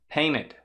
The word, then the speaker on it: painted: você tem um NTE, também é possível pronunciar sem falar o T, tá? Com o T mudo. Wanted. Não falei o T. Wanted. Painted.